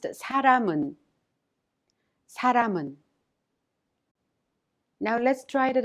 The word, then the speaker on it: 사람은: The final consonant 미음 in 람 of 사람은 is prolonged with 은 and is thus pronounced 사람은.